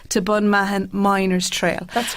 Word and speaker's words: Bunmahon: i was trying i was here trying to pronounce myself it's the allahis to bon mahan miners trail that's correct so can you just